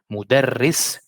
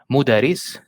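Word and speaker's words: مدرّس: here, the example, mudarris, the ra here is pronounced twice, it's not mudaris, so if it's one ra, it will be mudaris, which is not the case here because we have shadda, so we say mudarris.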